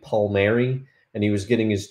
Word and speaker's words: Palmeiro: I believe the correct pronunciation of Palmeiro is actually Palmieri, and he was getting his 200th hit.